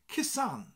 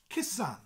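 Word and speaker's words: cusan: be a sun kissan sound very similar to kiss it sounds like you're kissing a girl called Anne kissan kissan and if you have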